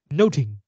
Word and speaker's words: nothing: ad do about nothing the word nothing in Shakespeare's time is pronounced noting so this line is